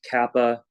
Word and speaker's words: kappa: All right, and now we need kappa at 0. By the way, yes, this letter that I'm writing is the Greek K. It's called kappa. Kappa. That's how it's pronounced.